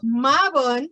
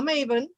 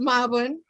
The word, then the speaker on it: Mabon: the pronunciation right yes so so marvin no maven it is marvin and galen galen that's